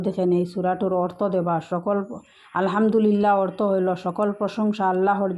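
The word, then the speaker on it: الحمد لله: অনেকে আলহামদুলিল্লাহ পড়েন, এটা পড়লে হবে না, এটা বড় হা দিয়ে শুরু হয়েছে।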